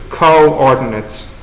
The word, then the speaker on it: coordinates: A lot of people don't bother using the hyphen anymore, but anyways, I'll put the hyphen in because it'll help to pronounce it. It's coordinates, okay, so separate out the O's.